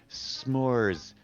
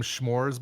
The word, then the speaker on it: s'mores: And we said no, it's not pronounced schmores. And he says, well, the apostrophe is Schmores. like an H. It's like no, the apostrophe is an apostrophe because you're saying I want some more of those.